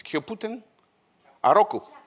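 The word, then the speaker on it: キャプテンハーロック: It's Kyoputen? Aroku. Kyoputen Aroku. Okay, I could know. In Italian, it's Capitan Harlock.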